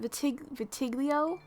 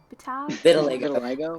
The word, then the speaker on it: vitiligo: I find that his how do you pronounce it? Vitiglio? Vitiligo.